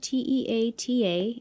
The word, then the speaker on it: Te Ata: was a really pretty name and see how it's spelled t-e-a-t-a and i didn't know how to say it